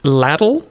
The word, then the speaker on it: LDL: Howdy, LDL, pronounced ladle, ladle, ladle.